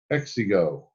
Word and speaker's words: Exigo: Exigo. Okay, that's how it's pronounced. Exigo. That's like not having an ego.